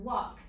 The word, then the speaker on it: walk: Walk has 3 sounds. Walk. So walk has 4 letters, but only 3 sounds because one of the letters doesn't make a sound. And that letter is L. So when I write walk, we hear w, and then k, but this L is not making sound.